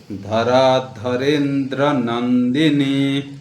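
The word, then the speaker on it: धराधरेन्द्रनन्दिनी: नंदिनी धरा धरेंद्र नंदिनी धरा आकार रकार में आकार है धरा धरे फिर रे एककार है धरे न और दकार और फिर रकार है धरेंद्र धरेंद्र नंदिनी नंदिनी दीर्घ नंदिनी धरा धरेंद्र नंदिनी धरा धरेंद्र नंदिनी धरा आकार दीर्घ है धरा ऐसे नहीं बोलना धरा धरेंद्र नंदिनी धरा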